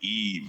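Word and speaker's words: Aiva: Her name is Iva, A-I-V-A. It's like and they pronounce it Eve, and it's like and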